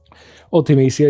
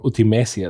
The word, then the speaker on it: Ultimecia: But Ultimecia is here, or Ultimecia, depending on how you want to pronounce it.